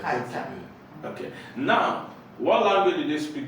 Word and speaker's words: Qatar: What's the pronunciation? Kata. Qatar. Yes. Kata.